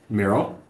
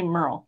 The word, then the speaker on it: Meryl: Meryl. How do you say her first name? Meryl. Yeah, I've heard some people say Merle, so I was just curious how you guys say it.